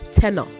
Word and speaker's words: tenor: Also say both of you, there's a difference between tenure and tenner. Tenner. It is tenner is t e n o r.